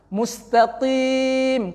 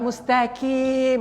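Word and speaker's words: مستقيم: Mustaqim, qaf dibacanya dengan kaf, berangin pula mustaqim. Itu fatal. Kemudian mim yang di ujung itu digantinya dengan nun, mustaqim.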